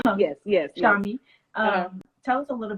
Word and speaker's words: Shami: Shami.